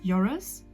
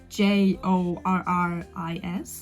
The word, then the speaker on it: Joris: It's Joris, like Jorris.